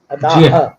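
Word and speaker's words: Adah: नाम है अदा शर्मा अब अदा शर्मा में एडी ए नहीं लिखा जाता है एडी ए एच अदा व ह साइलेंट होता है उर्दू लिपि में हमजा आता है तो उस कारण से वो साइलेंट हो जाता है तो अदा नामांक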